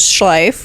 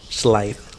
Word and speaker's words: Schleif: So my mother substitute taught, and so my last name is Schleif, which is difficult to pronounce or just easily mispronounced.